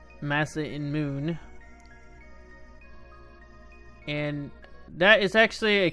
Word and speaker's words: Masamune: name of the sort split into two names Massa in moon and that is actually a careful way of how you should pronounce the name there I've heard people say